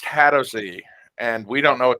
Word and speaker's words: Hadozee: to use poo as a ranged Weapon It's pronounced hadozee and we don't know what they look like